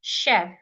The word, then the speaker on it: chef: like s h crash like Chef the CH there sounds like s h Chef like Nish the CH